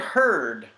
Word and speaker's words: heard: what the door it heard it rhymes with bird that's ard but different